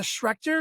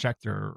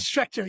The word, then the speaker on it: Schecter: But it was I'm going to say the name wrong, but it was a Schrecter, I think is what it was. I might say it right. I don't know. Okay, yeah. I think it's pronounced Schecter or something like that.